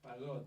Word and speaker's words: Pagoto: Pago.